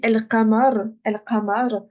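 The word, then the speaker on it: القمر: Donc par exemple, ici, El-Qamar, moi, je vais tout prononcer.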